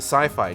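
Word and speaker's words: Syfy: sci-fi uh previously the Sci-Fi channel but it then later rebranded as CPI Sy yfy it's not how it's pronounced it is pronounced sci-fi I'm just being but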